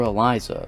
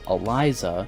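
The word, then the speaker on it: Elisa: random I call her Eliza because that's how the actor playing her father pronounced it it's spelled with an S though and so sometimes people pronounce it Eliza or Alysa and at times even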